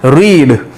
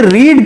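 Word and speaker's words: read: रीड, यानी कि रीड की फॉर्म में आप देखेंगे तीनों फॉर्म एक जैसी हैं, लेकिन प्रोनाउंसिएशन चेंज हो जाते हैं. कहां हो जाते हैं pronunciation change? रीड, रेड, रेड.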